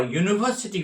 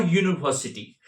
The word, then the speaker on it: university: His father is a university professor or university. Actually a yu the sound is yu which is a consonant.